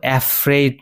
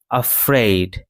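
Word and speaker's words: afraid: এই শব্দটি উচ্চারণ কিন্তু অ্যাফ্রেইড নয়, অ্যাফ্রেইড নয়। এই শব্দটি উচ্চারণ হবে আফ্রেইড, আফ্রেইড।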